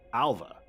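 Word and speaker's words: Ailbhe: Alva, a unisex Irish language given name. originally ma masculine. All right. Um, so B or V sounds. I think specifically because of the BH. It's the BH that's the the V sound.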